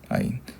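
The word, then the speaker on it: עין: 아인 눈 할 때도 아인이랑 발음을 가시는데 아인입니다.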